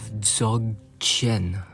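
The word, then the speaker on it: Dzogchen: Yesterday I was uh diving into the concept of zog chin.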